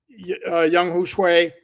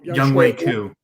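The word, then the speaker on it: Younghoe Koo: I don't know if you of the Atlanta Falcons, who had struggles with Young Shui. I think no, Young Wei Koo. Sorry? Young Wei Koo. Okay, sorry. Whoa, I butchered his name.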